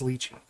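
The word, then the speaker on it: Lychee: tonight tonight that's going to happen zo it's pronounced leachy that's it it's over the debate is over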